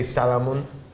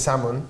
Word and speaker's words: salmon: in Scotland which is you don't say Salamone this is salmon salmon or ever do that